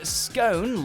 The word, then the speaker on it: scone: only have maple walnut one of the most contested words in the English language has to be scone or is it stone you'll generally find scone like tone in in US English but if you were